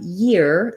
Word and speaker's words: year: And then finally, we have year. This one can be hard for some people, the difference between ear and year. In year, you have to have that gliding y sound.